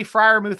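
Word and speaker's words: Freiermuth: for once friarmuth okay i'll say friarmuth from now on i got that one locked in especially when you spell it differently i've got it down so pat friarmuth we're looking and that makes sense now it sounds like a good german name when you say it like that so here we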